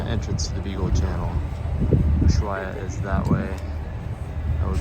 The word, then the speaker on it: Ushuaia: So as we're leaving Ushuaia, in the southern part of South America, and yes, it's pronounced Ushuaia, not Ushuaia, because in Spanish you don't pronounce the H, so that's one thing we learned.